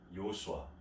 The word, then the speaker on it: 여호수아: 사실 이 이름은 예수님의 이름이죠. 예수라는 발음은 사실 헬라식 발음입니다. 히브리 발음으로는 요수아, 곧 여호수아인 것이죠.